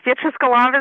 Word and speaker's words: Beatrice Golomb: that how we pronounce it uh good enough beatric Golam is how I pronounce it that it's you know names are